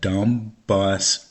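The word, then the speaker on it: Donbas: So, in case you missed one of my podcasts about this subject, there was a separatist movement in the Dumbbus region. That's spelled D O N B A S region.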